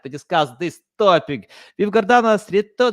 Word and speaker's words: Gordana: I'm so excited to discuss this topic with gardana how are you good good that was actually very good pronunciation of my name thank you uh people